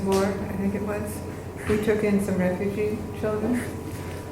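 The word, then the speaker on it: Hui: And so we indicated that we were interested in taking it. We already had 4 kids, so one more was nice. So we went to pick up H-U-I, and pronounced we, and at Lutheran Social Services, I think it was.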